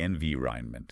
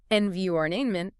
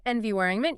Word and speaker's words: environment: word, the ronment part, sort of gets crushed together. It becomes a schwa sound again. Rhinement. Envyment. Exactly. It's almost mumbled at the end. Try it in a sentence. It's good for the environment. Much, much better. If you say environment, people will understand you, of course, but it sounds foreign. If you say environment, you flow.